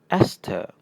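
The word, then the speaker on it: ester: Right and this one is pronounced "es-ter".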